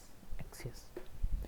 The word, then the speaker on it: Axios: Pronunciation एक्सियस.